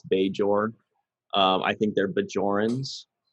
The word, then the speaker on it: Bajor: the planet is pronounced bajor so it's it's some it's something between a hard and a soft j so you would assume